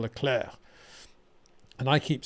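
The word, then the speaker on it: Leclerc: me regularly for for calling him charl L clerk when she says it should be charl laclair and I keep saying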